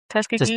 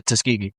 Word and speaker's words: Tuskegee: How do you say Tuski? Tuskiggee Tuskegee. Tuskiggee Tuskkegee. Tuskegee. Yeah, Tuskegee. Tuski. Yeah, you going to lose your blackout if you don't say it right.